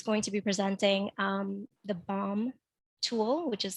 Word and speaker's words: BHoM: And she's going to be presenting the BOM tool, which is spelled BHOM.